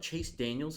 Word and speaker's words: Chase Daniel: talk about i mean you should say his name right chase daniel it's not daniel oh i don't care